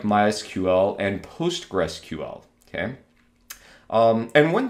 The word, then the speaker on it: MySQL: On the other hand, the DBMS MySQL, the developers of MySQL have actually said that the correct way of pronouncing this is MySQL, not MySQL.